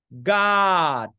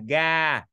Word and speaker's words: God: Em nghe 10% quý vị đọc là ga. À, nếu mà quý vị đọc là ga thì mình phải khép lại, không mở miệng theo chiều ngang nha. Em nhắc lại cái âm này, mình sẽ thả lỏng miệng, đơ miệng, mở miệng theo chiều dọc nè.